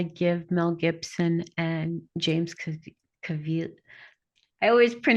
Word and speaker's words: Caviezel: Yeah, so I have to say that I give Mel Gibson and James Caviezel. I always mispronounce his name. oh, Caviezel.